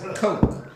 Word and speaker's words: Koch: it's not cock, it's coke. I think it's pronounced.